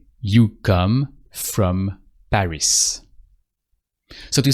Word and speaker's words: Paris: Tu viens de Paris. And that's it. And you don't pronounce the S of Paris either because the S is the last letter and it's a consonant, so you don't pronounce it.